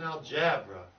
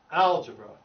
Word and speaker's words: algebra: mention algebra with an algebra and gender nope the syllable don't have this emphasis is on al algebra algebra there you go yeah some of some